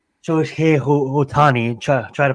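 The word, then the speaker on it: Shohei Ohtani: I'm saying and and for someone like like show he Otani try try to pronounce that correct iy came from Japan looked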